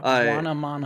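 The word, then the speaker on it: Buonomano: Bonomamo, I think is how you pronounce his name. Yeah, Bonomamo.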